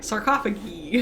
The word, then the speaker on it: sarcophagi: So it's a sarcophagus, Uh-huh. like an octopus, Yeah. and then multiples are sarcophagi. Sarcophagi.